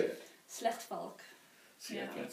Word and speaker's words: Slechtvalk: Can you pronounce it? Schlechtvalk. Wow. Did I say it right? Not really. You say it. Slechtvalk.